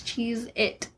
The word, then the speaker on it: Cheez-It: baloney Italy all right is it Cheez-Its or Cheez-It s no no it's cheese it oh man I was